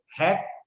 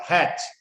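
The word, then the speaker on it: Hach: write in your notebook make is hack company not hatch h a c pronunciation like hack hack company USA okay so here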